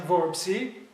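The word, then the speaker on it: Vorpsi: and let's see the last name of bessem verbsi that's to say verbsi Let me spell it v-o-r-p-s-i verbs is related to the word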